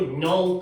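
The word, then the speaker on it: gnaw: 그리고 no, 그 no가 아니라 그게 묵음이잖아요.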